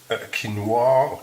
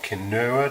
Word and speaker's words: quinoa: cheese 50 grams of quinoa Kanoa depending how you pronounce it this is magic